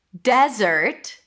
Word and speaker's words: desert: Desert. Let's go to the desert. The desert is so beautiful in the winter. Desert. Stress is on the first syllable.